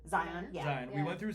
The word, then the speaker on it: Zion: Zion, yeah.